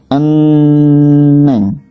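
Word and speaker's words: 은행: Contoh, eneng, ditulisnya kan harusnya enheng ya, ini ya ada hiya, eneng, neng saja. Di sini ada lagi anyongi, dibacanya anyongi gitu.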